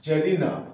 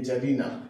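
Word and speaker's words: czarina: হয় যার যার আবার জারিনা সি জেড এ আর আই এন এ জারিনা তাহলে সি এর উচ্চারণটা হবে না ঠিক আছে ইনজেক্টের সামনে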